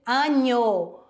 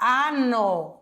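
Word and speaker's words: año: nasceu eu vou dizer anho com la Olha aí o n com o tio em cima se eu falar ano e não anho eu estou me referindo a anos então cuidado com as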